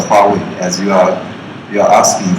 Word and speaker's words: Huawei: uh actually I want to start with our pronunciation I think you know this logo the red logo and we are called the Huawei as you are you